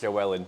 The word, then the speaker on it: Llywelyn: Because I just Llywelyn. So the double L in Welsh is pronounced as Llywelyn. Llywelyn. Yeah, So that's you gotta crazy. like smile and Yeah. blow through the back of your cheeks, kind of.